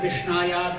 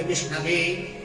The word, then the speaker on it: विष्णवे: तो अज्ञो वदति विष्णाया विज्ञो वदति विष्णवे। जो संस्कृत भाष्य हैं वो विष्णवे बोलेगा।